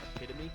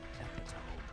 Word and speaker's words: epitome: and it flashed on screen and it was epitome and he said epome and what happens next I'm not going to